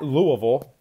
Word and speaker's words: Louisville: at Louisville 8 o' tip off uh at Louisville I hate saying it like that I know